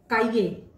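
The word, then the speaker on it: cahier: काइये, काइये means notebook. सी के बाद ए आ रहा है, से के बाद आ रहा है, इसलिए इसका उच्चारण हो गया काइये, काइये।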